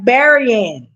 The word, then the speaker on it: Berrien: Look, somebody sent me a text and told me to pronounce it right. Berrien. So it's Berrien.